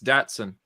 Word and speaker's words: Datsun: that how do you how do you guys say Dotson it's Datsun um okay like the